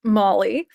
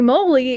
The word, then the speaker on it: moly: And for those of you who don't know, it's actually pronounced Molly. Um, but the joke holy mol holy moly is based on the